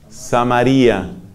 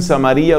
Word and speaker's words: Samaria: reino del norte fue Samaria. De los dos modos la pronuncian, unos dicen Samaria, otros dicen Samaria.